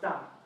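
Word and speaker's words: 大: We have the shape, the meaning, we have the pronunciation, da like Darth Vader, and which tone is it?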